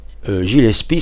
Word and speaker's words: Gillespie: Gillespie, c'est prononcé à la française. Normalement, on dit Gillespie.